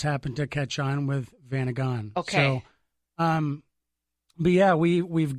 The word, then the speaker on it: Vanagon: Vanagon. Vanagon. Yeah, and Okay. I think there's a couple different ways that people say it. If you go out west, it's Vanagan. Yep.